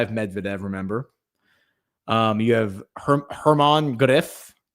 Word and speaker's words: German Gref: You have Hermann Greff, German Greff is how it's spelled, but I think it's pronounced Hermann Greff.